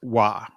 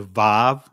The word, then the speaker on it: vav: This in the ancient Hebrew this is pronounced wah. Right? In the Israeli it could be the vav or va or it can make the just the vv sound.